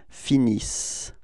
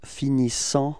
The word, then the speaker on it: finissent: that the students pronounce finissant. Okay, because they spot this en, and so they think that they should pronounce it.